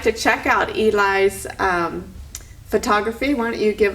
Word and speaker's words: Eli: Okay, Eli is spelled E-L-I, like Eli Whitney.